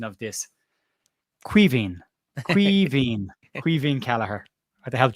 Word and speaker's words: Caoimhín: Like, that's Irish for Kevin. But call him, it's Caoimhín.